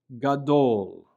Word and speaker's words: gadol: The next letter is the letter gimel, which has a hard g sound. So the word on the left, gadol, gadol, which means big.